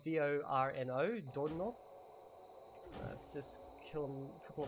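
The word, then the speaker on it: dorno: So the word for thorn is Dorino. Dorino. Okay. So it's spelled D-O-R-N-O. Dorino.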